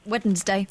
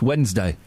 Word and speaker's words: Wednesday: Say the What's the third day of the week, Paul? Wednesday. No. No. Weddednesday. It's Wednesday. It's Wednesday. Weddednesday. There's a D and I love the way you go February.